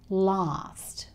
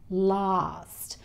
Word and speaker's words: last: Last night, last. We tend to say this with the R sound, last. We don't say last like the Americans.